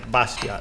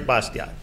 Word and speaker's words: Bastiat: a little bit differently put a lot of silent letters in their language and the the t is silent so his name is